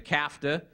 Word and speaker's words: CAFTA: The CAFTA may be unfortunate that it rhymes with NAFTA.